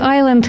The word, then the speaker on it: island: Як учень читає Knight як кнігт, чи пояснювати, чому в слові Island літера с не читається?